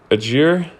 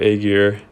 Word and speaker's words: Ajir: the first one is ajir which is how you pronounce that it's not a gear um there are different